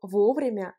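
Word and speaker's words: вовремя: et la différence entre vos vrais qui s'écrit ensemble l'accent tonique frappe la première voyez le haut vous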